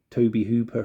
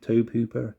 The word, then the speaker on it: Tobe Hooper: remake so a to Toby Hooper film Tobe Hooper Toby Hooper I think his name is pronounced the director of the